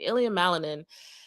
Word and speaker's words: Ilia Malinin: Ilia Malanin and what his performance today tells us about mindset and pressure and performance.